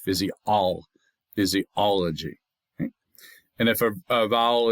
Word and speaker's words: physiology: The fizz, the e, the o, and the g are not stressed. It's the all. That's where the accent comes. Phys. Physiology.